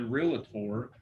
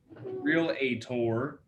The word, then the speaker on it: realtor: client and as a realtor real ator saying it wrong realtor just kidding with you